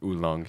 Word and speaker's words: oolong: I think it's oolong.